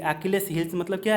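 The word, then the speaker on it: Achilles: Next, ये बहुत interesting है, अकिलेस हिल। जी हाँ, प्रोनाउंसिएशन इसका अचिल्स नहीं है, अकिलेस हिल।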